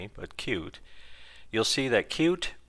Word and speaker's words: Qt: this person working with cute is how do they pronounce it and many times I go on to their YouTube tutorial videos and I hear q-t-qtqtqt and I kind of sit back and laugh because I often wonder